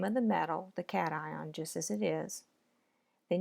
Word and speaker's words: cation: make an ionic compound the words look like a shin in iníon but you pronounce them cation and an eye on so how do you